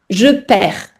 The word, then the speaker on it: perds: Et la prononciation du verbe perdre, attention parce que ça s'écrit différemment de comment ça se prononce. Je perds.